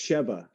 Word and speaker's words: Sheva: Oh no, it's Sheva. Shiva. Yeah. That's how they Shiva pronounce it in the game, at is least.